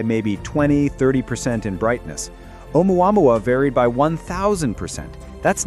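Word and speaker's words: ʻOumuamua: The naming the name Omuamua. Chosen by Panstar's team, Hawaiian. Scout or messenger. First character is Aina, not an apostrophe. Pronunciation omua mua mua.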